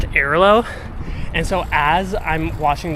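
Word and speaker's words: Airalo: you watch that video back really closely, I pronounced it as Iralo, because that's how I've always pronounced it. I've used them for years, and I've always pronounced them as Iralo, dude. And apparently they're pronounced Iralo.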